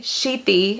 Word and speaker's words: Shetty: a gentleman named Jay Shetty. I think is how you say his last name. It's S-H-E-T-T-Y.